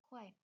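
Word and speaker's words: 块: Nah, ee untuk saat ini satu kuai atau di sini ya ini bacanya kuai satu kue itu sekitar 2.000-an.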